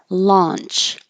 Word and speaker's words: launch: The vowel here is ah, so you have to leave your jaw more open. If you're not, it might sound like lunch, like did you eat lunch? Lunch, launch, like product launch.